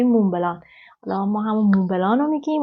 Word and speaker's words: Montblanc: اسمشم باید بهتون بگم به انگلیسی مونت بلانک تلفظ میشه ولی به فرانسوی مونبلان حالا ما همون مونبلانو